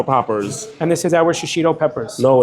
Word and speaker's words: shishito: How do you say it? Shoshino? Shishito peppers.